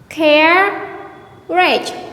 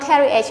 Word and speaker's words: carriage: Actually, here we have only 2 syllables. Carriage, not carriage, not carriage.